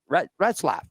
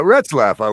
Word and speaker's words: Retzlaff: Retzlaff. There you go. Yeah, Retzlaff. I would say that's how you pronounce that.